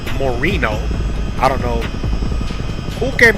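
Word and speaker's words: Moreno Valley: it has an M now I call it Marino Valley I have always but it's technically we actually pronounced Morino I don't know who came up with that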